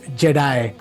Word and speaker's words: G3D: are building a text to 3D tool called Jedi which is spelled G3 D dot AI so really appreciate